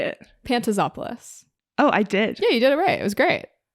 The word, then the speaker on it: Pantazopoulos: Is that Pantazopoulos? That was great. That was perfect pronunciation. Yes, let's go. You say it. Pantazopoulos.